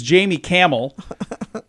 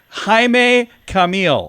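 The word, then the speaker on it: Jaime Camil: of chucking I'm like I'm saying your name wrong ain't I and he's like yeah it's haime Camille and I'm like thanks a lot art Jamie cam so I was completely wrong uh Laria Loca on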